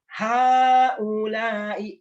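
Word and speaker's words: هؤلاء: Terus haulai, baca panjang ya.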